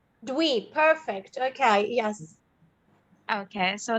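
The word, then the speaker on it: Dwi: this is my name it pronounced like do we do we perfect okay yes okay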